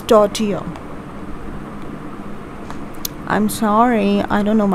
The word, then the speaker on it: tortilla: with the celery filling so this is you pronounce it as tortilla see it's tortilla i'm sorry i don't know i'm sliding down